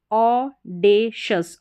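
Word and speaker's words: audacious: यहाँ पर है AU को ओ करके प्रोनाउंस किया जाता है, AU का उच्चारण ओ। फिर है DA, ऑडेशस, ऑडेशस, ऑडेशस, ऑडेशस।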